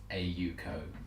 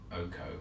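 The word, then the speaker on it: AU Co.: Like, yes, it's AU as in it's gold and the Pronunciation, as you would say the letters A and U and the abbreviation of co, of company.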